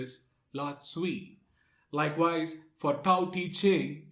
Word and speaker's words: Tao Te Ching: lot sweet likewise for tao teaching it is also pronounced as dao di jing in chinese so the lotsu he's